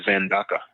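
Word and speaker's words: زندقة: language they would say zanda z- n D- a QA zanda is heresy and zandik is a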